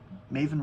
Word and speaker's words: Maven: I Maven rhymes with Raven, although she doesn't really know why she titled it that.